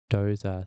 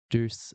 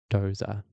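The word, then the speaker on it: Doose: And this was formerly known as Doza syndrome. And I learned that pronunciation from one of my German epileptologology colleagues who was getting frustrated that everyone calls it Duce syndrome in Australia, but I'm told that it's Dozer syndrome.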